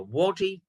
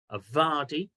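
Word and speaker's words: wadi: a steep-sided seasonal river called in English a Wy more correctly pronounced aardi w a DI um which characterized the absolute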